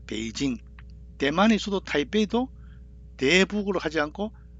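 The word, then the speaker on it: 北京: 그래서 중국 수도 북경을 북경으로 발음하지 않고 배로 발음을 베이징 대만에서도 타이페이도 대북으로 하지 않고 타이페이기 베이징 타이페이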